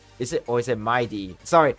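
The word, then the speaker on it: Mydei: Is it, or is it Mighty? Sorry, it's not Madai. I'm sorry, I always refer to this as Madai or Madai. It's Mighty. It's not Madai.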